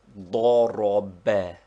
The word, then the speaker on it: ضرب: They form the Arabic word he struck, which is pronounced ضرب, with the accent on the last syllable.